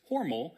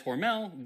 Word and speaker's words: Hormel: I believe it charge of the company and he said that it was Hormal as in rhymes with normal. But since the company today says Hormel, that's what I'm going to be saying for the rest of the video.